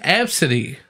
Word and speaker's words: Abcde: for people that don't know the name it's pronounced f City yes but the worker dig he was pretty